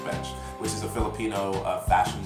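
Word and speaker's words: Bench/: It's spelled or written as Bench with a hash, but I'm just gonna pronounce it Bench, which is a Filipino fashion brand.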